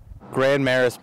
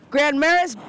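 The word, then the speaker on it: Grand Marais: French street name that we have our own spin on Grand Maris Grand Maris Grand Maris Grand means big Martian French a reference to the area's Wetland geography our refusal to use true French pronunciations is especially puzzling considering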